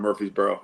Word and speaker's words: Murfreesboro: in Tennessee over in Murfreesboro. Yeah, that's my concierge. Nice. how do you say it? Muffries or Murphries? Murfreesboro. But it's spelled different, right? It's like Murfreesboro. Murfreesboro.